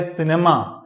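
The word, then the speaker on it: cine: बट जो correct pronunciation है according to Oxford, वो इसका जो प्रोनाउंसिएशन होगा वो सीनी होगा, न कि साइन होगा।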